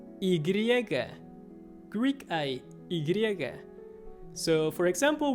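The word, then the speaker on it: y griega: taxi so this one basically means greek i igriega greek is so for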